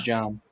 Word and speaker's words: Jon: How do you pronounce it? J-O-N? It's not John. It is John. Jon is John. Okay.